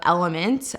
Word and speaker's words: LMNT: doing a packet of element lmnt is how it's spelled every single day at